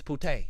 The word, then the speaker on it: putain: It's putain. That's what it is. It's putain. Le correct prononciation de putain en français est putain.